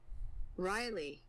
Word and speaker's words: Riley: Riley. Szóval Riley. Azt hittem valami másmilyen kiejtése van. De most már tudom, hogy Riley, legalább akkor ejtetem azt ki, hogy Riley rátör kapura!